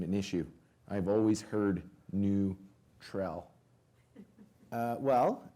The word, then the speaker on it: NÜTRL: issue I've always heard new Trel well it's a stylized version of the word neutral yep so it's pronounced like neutral not neuter my favorite is new tree I love that new